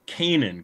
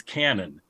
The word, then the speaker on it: Canin: right is pronouncing it it is Kanan correct though often they pronounce it as Canon and I was just